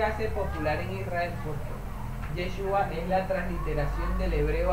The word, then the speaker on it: Yeshua: adoptar la lengua aramea, y ahí vamos a ver una contracción y una reducción del nombre y queda la pronunciación Yeshua por el paso al arameo, ¿ok? Y vamos a buscar el fundamento para que usted vea que del texto hebreo al arameo, a Josué le llaman Yeshua, ¿ok?